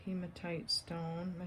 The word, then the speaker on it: hematite: But it definitely looks like hematite stone.